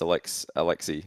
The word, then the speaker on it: Alexi: But yeah, while we're looking for that tweet, it's pronounced Alexi. Okay, silent S.